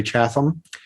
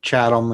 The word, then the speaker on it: Chatham: pronouncing that right i most of the locals here say chatham uh but i i think you know i people say chatham and yeah i think if you're from new england it's it's chatham so it does i